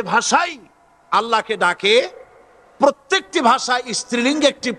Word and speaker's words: আল্লাহ: পাকের নামের উচ্চারণ হচ্ছে আল্লাহ মুখটা একটু গোল হয়ে যাবে বলেন আল্লাহ সুবহানাল্লাহ পৃথিবীতে বিভিন্ন জাতি